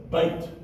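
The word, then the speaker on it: בית: how I know that that y has lost its consonantal value it's combined with the preceding vow which is the Y which is the to become a and then you have the TB at the end so it is b a bait bait the word that means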